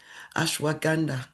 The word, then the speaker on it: ashwagandha: Ashwagandha. Is that how to say it? Ashwagandha, yeah.